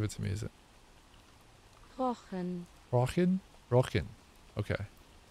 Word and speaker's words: Rochen: Rochen. Okay. No CH in Rochen, okay. Just a regular K.